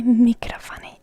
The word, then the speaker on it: mikrofoni: And that would be in Finnish, mikrofoni. Mikrofoni. So instead of microphone, you say mikrofoni, and it's written a bit different.